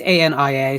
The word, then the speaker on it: Ania: I've never heard it actually pronounced out loud. I've just always seen it in print. And Ania, it's Ania, so I always Ania.